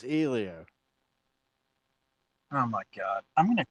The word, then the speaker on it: Helio: it piss you off I don't think either one of us pronounced it right so I think it's he Leo it's ELO how did you get an e out of H that's not even Spanish I'm my wife says it's Elio oh my God I'm